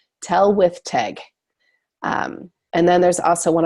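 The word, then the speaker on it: Tylwyth Teg: So he's like, Tellawa. So he's trying to understand what's going on there. And then the character actually tells him how to pronounce it. Tell with Teg.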